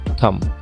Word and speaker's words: thumb: নাই, ভাওয়েল নাই, তাই বিটা কিন্তু এখানে উচ্চারণ করা যাবে না। আমরা কি লিখবো, আমরা উচ্চারণ করবো হচ্ছে THUM, থাম।